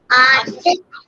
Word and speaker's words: Arctic: Arctic Ocean. Yes, here C is silent. We will not say Arctic Ocean. We will say Arctic Ocean. So C is silent here.